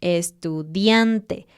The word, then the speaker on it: estudiante: Cuando no haya nada, siempre pone el énfasis en una sílaba antes del final. Estudiante.